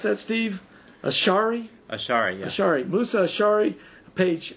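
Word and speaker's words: Ash'ari: How do you pronounce that, Steve? Ashari? Ashari, yeah.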